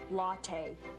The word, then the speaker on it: latte: by the way Governor it's pronounced latte but she doesn't